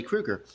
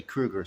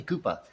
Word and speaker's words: Krueger: know he was Freddy Krueger some people called him Freddy Koopa at my middle school Koopa like uh whatever they mispronounced it or whatever not me